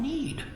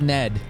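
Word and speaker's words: Nede: for we are from need just as you are now I finally know how to pronounce the name of that planet it's need it's not Ned which some people tried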